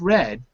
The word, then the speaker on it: read: already read the newspaper read and read have the same spelling but they're pronounced differently okay here you know it's red because you're using the